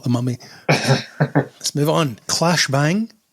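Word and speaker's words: Claes Bang: Clash Bang, and that's how you say his name apparently, joins Dave Bautista and Jason Momoa in The Wrecking Crew.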